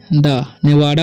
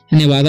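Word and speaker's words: Nevada: I live, इसे पढ़ते हैं हम लोग लिव इन नेवादा, ठीक है, नेवाडा बोलेंगे, नेवादा भी हो सकता है, ठीक है।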